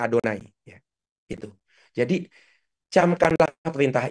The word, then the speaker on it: YHWH: Kita enggak boleh baca Yahwe, kita bacanya Adonai.